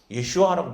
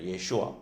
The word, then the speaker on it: 예슈아: 원래 히브리 말로는 예슈아라고 부릅니다. 예슈아. 그러니까 정확한 발음은 예슈아인데, 자, 예슈아의 그 뜻은 자기 백성을 그들의 죄에서 구원할 자라는 것을 얘기해 주고 있어요.